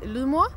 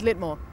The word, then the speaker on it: Lydmor: where I am because in Denmark I say loo moi which is the Danish pronouncation but quickly after